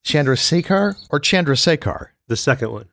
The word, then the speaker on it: Chandrasekhar: He would say, Chandrasekhar. Say what? Chandrasekhar. Chalasar.